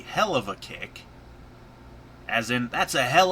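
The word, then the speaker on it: Helluva Kick: the hellova kick is they pronounce it wrong it's supposed to be the hell of a kick as in that's a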